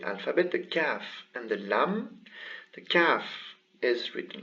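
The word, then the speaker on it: لام: the calf and the lam the calf is written like this and it is pronounced as a regular ka kaf this one here is lam and it's pronounced as an el so it should be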